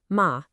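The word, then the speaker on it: 马: A little dip, ma. And suddenly you're talking about a horse. And a sharp fall, ma, means to scold.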